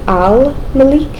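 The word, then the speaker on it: الملك: is going to be al Malik instead of Malik. Why? Because they are moon letters which means they're going to be formed with your lips.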